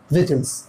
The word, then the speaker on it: vehicles: का pronunciation आप virtual मत कर दीजिएगा, इसका pronunciation होगा vehicles।